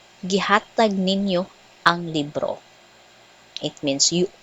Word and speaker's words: Ninyo: Pronunciation, Ninyo. So the stress is on the first syllable, Ninyo.